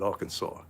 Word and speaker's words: Arkansas: morning from little rock arkansas did i say it right i didn't say sauce i said arkansas you know i know